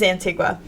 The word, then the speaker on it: Antigua: I am so sorry for how poorly I pronounced that it's an Antigua it is Antigua um yes but it was and it was